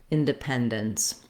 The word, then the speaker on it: independence: Letters D, E are going to sound more like da, so they're not going to have that clear E like in pen, in the pen syllable. I've written it here with the schwa, inda, independence.